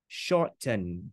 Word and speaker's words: shorten: Về mặt phát âm, chữ đó có hiện tượng giảm âm, đọc là shorten. Short, lên mũi. Quý vị nào không biết lên mũi, coi lại bộ 17 ngày thực học phát âm bài số mười mấy đó. Năm cách phát âm âm T, có một cách phát âm là lên mũi. Shorten.